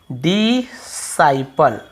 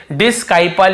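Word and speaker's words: disciple: इसे हम क्या पढ़ते हैं, डिसाइपल, ठीक है, ऐसे डिसाइपल पढ़ते हैं।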